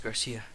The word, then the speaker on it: Garcia: you the great Garcia or is it Garcia it's Garcia because there's no Accent on the eye you fought for Rene